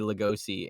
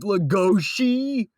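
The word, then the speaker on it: Legoshi: name origin his he's named after bella lugosi that's why we say lugosi in the videos in in the actual manga dub so like anyone who who comes to us and is like it's pronounced lagoshi yeah well get out of here yes we are inclusive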